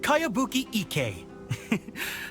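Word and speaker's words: Kayabuki Ikkei: one i've never heard of it hmm by cowabunga icky mia this is a really strange name who's this cowabunga it's pronounced kayabuki ek that would be me outlander brigade is a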